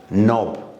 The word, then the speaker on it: knob: For example, look, knob, K is silent, no, N is silent, knee, K is silent, knife, as you know, K is silent.